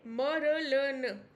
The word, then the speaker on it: Murlen: मर्लिन, मरलन। ठीक है। हाँ, तो इसको थोड़ा सा याद कर लेना, स्पेलिंग में वो ना हो जाए।